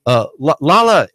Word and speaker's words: Lala: Well, Lala, am I pronouncing your name correctly?